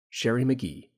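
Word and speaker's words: Sherry Magee: express frustration ah gez people keep mispronouncing McGee's name okay phonetics lecture over Sher McGee it is with his name spelled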